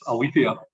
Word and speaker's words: Aletheia: It's Aletheia Capital, I'm afraid.